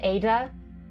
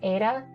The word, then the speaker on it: Ada: With my accent, I pronounce it as Ada, which, yes, you might notice is neither a D nor a T sound. It is an alveolar tap, which is very similar to the Japanese R.